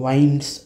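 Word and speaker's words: winds: पूर्ण असायला पाहिजे होती इथं विंड्स असा नाही उच्चार याचा याचा उच्चार होतो वाईंड्स अप द माउंटेन कारण टू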